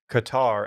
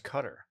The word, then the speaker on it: Qatar: Dylan, you might be thinking, why are people pronouncing Qatar as Qatar? The Arabic language, particularly the colloquial dialect common in the Arabian Peninsula, features several sounds that are completely alien to native English speakers, beginning with the initial consonant in Qatar.